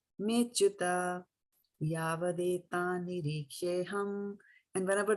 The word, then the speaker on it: cyuta: So remember, there is this apostrophe 2 times coming here, right? So it means a there, but it's not to be pronounced, right? Arjuna uvāca senayor ubhayor madhye rathaṁ sthāpaya cyuta rathaṁ sthāpaya cyuta, right? Not me achyuta, cyuta yāvad etān nirīkṣe.